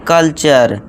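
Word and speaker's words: culture: अब देखिए दोस्तों अब कुछ स्टूडेंट बोलेंगे सर ये कल्चर क्यों है? यहां टर होना चाहिए था। अब यहां कुछ दोस्त कहेंगे कल्टर होना चाहिए था फीटर पढ़ेंगे इस तरह इसे फ्यूटरे पढ़ेंगे नटुरे पढ़ेंगे फ्रैक्टर पढ़ेंगे पोस्टोर पढ़ेंगे लेकिन दोस्तों ये गलत हो जाएगा ठीक है दोस्तों अगर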